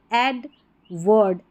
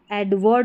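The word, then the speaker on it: Edward: एडवर्ड, एडवर्ड बोलना है इसको, एडवार्ड नहीं बोलेंगे।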